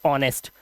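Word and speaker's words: honest: जैसे कि यहां पर एक वर्ड है ईमानदार को हम बोलते हैं एच ओ एन ई एस टी ऑनेस्ट। यहां पर ओ से पहले आया एच साइलेंट।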